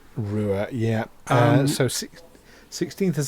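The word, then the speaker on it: Ruwa: seen it written down r-u-w-a I assume it's pronounced Rua Rua yeah uh so 16th of September 1994.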